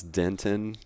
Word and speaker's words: Denton: how it's kind of difficult to pronounce Denton correctly and say the T in the middle. Right. Because you have to say Denton, and it feels a little forced.